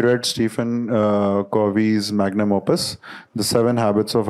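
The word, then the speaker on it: Covey: इसको सोनी पप स्टीव कवि कवि जस्ट लाइक अवर एक्टर कवि कोवी नहीं हैय कवि है हैव यू रेड स्टीव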